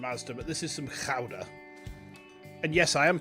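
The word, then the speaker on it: Gouda: who have told me it is pronounced chowder. Kind of like chowder but you know with a bit more of a So, let's um slice us out a watch there.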